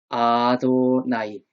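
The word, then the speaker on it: אֲדֹנָי: 그래서 아도나이.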